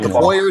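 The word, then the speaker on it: Heuer: Hoyer there you man Hoyer is how you say it I always call it tag how oh I think I believe it's tag Hoyer but I could be wrong I don't think I've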